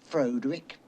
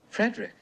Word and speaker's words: Frederick: hysterically laughing at the absurdity what the it's pronounced frankenstein do you also say frodrick no frederick you must be igor no it's pronounced igor